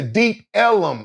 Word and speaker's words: Ellum: In the deep Ellum, it's called Elm because Negroes had a hard time pronouncing Elm Street. So when you go deep down Elm Street, you in the deep ellum.